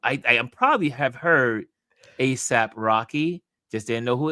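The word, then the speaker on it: A$AP: Should I be saying ASAP? Say ASAP Rocky, but okay.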